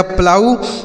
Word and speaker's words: plough: अगला शब्द है PLOUGH, तो PL से दोस्तों आधा प और ल हो जाएगा। ठीक है, इस और यू का उच्चारण आऊ हो गया। और देखिए GH यहाँ साइलेंट है, इसे नहीं पढ़ेंगे, तो इसे पढ़ा जाएगा प्लाऊ।